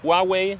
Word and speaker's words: Huawei: euch ein Begriff als handypoduzent Handyhersteller Huawei Huawei Huawei eigentlich ausgesprochen und ich bin ein großer Fan von